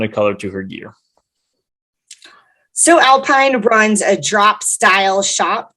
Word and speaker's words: Sew Alpine: colorado-based cottage company called so alpine hannah defines the name of her one woman show by saying uh so alpine is a pun because it's spelled s-e-w she sews but she